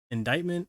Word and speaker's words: indictment: I didn't know it was like indictment, indicament, indeterminate.